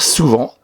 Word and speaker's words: souvent: Et attention, il y a une lettre muette. C'est un mot invariable qui s'écrit toujours comme ça. Il ne faut pas oublier la lettre muette à la fin. Et il s'agit d'un... Ah, je l'ai entendu. Il s'agit d'un T.